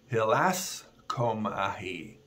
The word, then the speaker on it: hilaskomai: The word is hilaskomahi, and it's spelled hilaskomai, if you want to look it up.